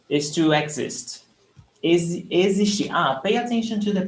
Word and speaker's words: existir: Existir is to exist. Existir. Pay attention to the pronunciation. The X is pronounced as Z. Existir.